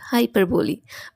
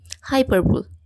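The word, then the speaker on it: hyperbole: করতেছে আমাদের কাছে এটা খুব পরিচিত একটা word হাইপারবলি but most of the time আমরা এটাকে কি বলি হাইপারবল মানে অতিরঞ্জিত করা কিন্তু এটা সঠিক নয় এটা বলতে হবে হাইপারবলি হাইপারবলি এটার অর্থ হচ্ছে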